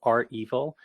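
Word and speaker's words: REvil: But I think it's pronounced are evil, and I say that because it's accurate branding.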